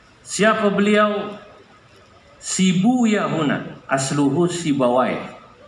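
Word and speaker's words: سيبويه: Sibu Yahuna, asluhu Sibawai. Dalam satu lughat dibacanya Sibuyah untuk menyesuaikan wazan. Sebab kalau pakai Sibawai Huna nggak ketemu wazannya. Maka saya pakai satu lughat yang membaca Sibawai dengan Sibuyah.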